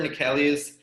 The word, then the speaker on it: Neckelius: Today we have Neckelius, alias. How are you doing, man? Good, and I'm impressed with that pronunciation, man.